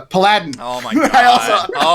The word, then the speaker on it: paladin: Like Like Aladdin. I get it. Aladdin but- with a P.